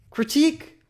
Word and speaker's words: critique: Critique rhymes with weak.